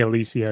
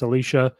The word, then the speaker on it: Alicia: teddy and alicia alicia i know i say alicia it's alicia just the way it's spelled i don't know um